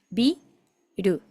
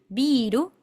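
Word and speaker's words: ビル: Acá tenemos bi ru, biru, significa edificio. Ojo, no confundir con biru, biru, con vocal larga, la i larga, que eso significa cerveza, pero en este caso biru, edificio.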